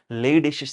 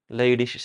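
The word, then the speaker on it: Leydig: also so called as Lish cells Lish cells okay it is l e y d g but while pronouncing we need to pronounce as Lish okay it is a German name these are the Lish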